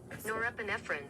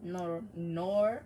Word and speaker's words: norepinephrine: Norepinephrine.